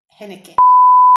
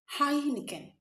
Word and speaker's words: Heineken: I know majority of people in Nigeria say hen. And you are one of them. Do you say henkin? No. Dr. Okay, that word is not hen. The word is pronounced as hinekin.